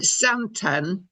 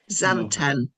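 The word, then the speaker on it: Xanten: Isn't it zanten with a z like a zed? Sounds Chinese. Anyway, zanten.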